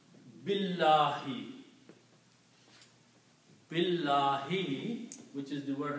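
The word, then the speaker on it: بِاللهِ: So the word was Allahu, but because of the B, it will be pronounced Allahi. Okay? And when you combine these two, you do not pronounce this alif here. B is combined with the lam, so you pronounce Billahi.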